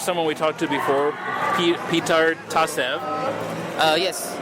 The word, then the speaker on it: Petar: Okay, here's someone we talked to before, Petar Tasev. Yes, you can call me Peter or Petar, as is the Bulgarian pronunciation.